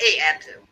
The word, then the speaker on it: Abzu: It's E period A-B-Z-U. E-F-Z-U, but it's actually pronounced A-F-Z-U. The letter A either is pronounced A. I don't know why.